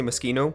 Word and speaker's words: Moschino: why it's the same with Moschino the first I said machine oh now I see Moschino even though that's the right way to say it